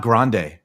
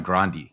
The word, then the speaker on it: Grande: the pictures of him and Ariana it's not grande apparently because they were look close with the family like he was like producing her when she was 15 it's Ariana grandi that's that's how you pronounce it just so